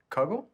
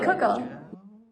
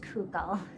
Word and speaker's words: kugel: things one kuggle um typically you won't hear pronounced google you would hear it pronounced coco there are a few different ways to pronounce it just based on which um like yiddish accent you have there's kegel and cocoa there are different ways but kugel is a less common pronunciation to my knowledge can i ask you